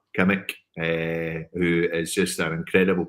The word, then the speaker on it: Kimmich: I like doing the Derek Ray pronunciation here. It's Joshua Kimmich, who is just an